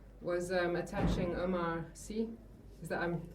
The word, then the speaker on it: Omar Sy: Was um attaching Omar Sy Is that I'm pronouncing his name right? Omar Sy, yes.